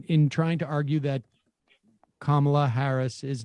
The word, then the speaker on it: Kamala: of the fact that she pronounces her name kamala as opposed to kamala now maybe it's because i'm from massachusetts like my first uh instinct would be like kamala because i always hit